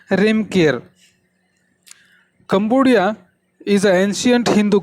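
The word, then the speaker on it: Reamker: Now here is a famous version of Cambodia, that is Ramkir, or they pronounce as a Remkir.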